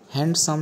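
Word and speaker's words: handsome: এই শব্দটির উচ্চারণ কিন্তু হ্যান্ডসাম নয় এখানে ডি সাইলেন্ট থাকে এই শব্দ দুটির উচ্চারণ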